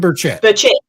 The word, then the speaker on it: Burchett: Burchell, is that how I say his name? Tim Burchett.